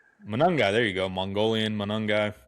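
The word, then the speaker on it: Monangai: Manungai.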